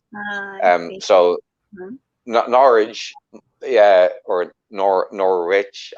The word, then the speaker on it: Norwich: that it was just you didn't um pronounce the w yeah you kind of leave the w out but it depends where